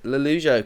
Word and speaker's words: Lollujo: man and our special guest for today is lalujo how's it going very good thank you